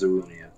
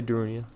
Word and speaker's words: Darunia: I always pronounce it I always pronounce it as dunia all right I'll say darunia I am darunia I'm